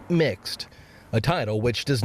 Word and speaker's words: Mx: use the pronoun mister instead using mx pronounced mixed a title which does